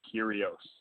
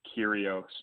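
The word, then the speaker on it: Kyrgios: massachusetts great caller but the name of that guy that he couldn't pronounce is nick curios so andre if you're listening it's kyrios but uh respect to tennis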